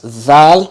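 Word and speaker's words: ذال: in Black okay so that's zal which is also one of the tongue letters and then raw I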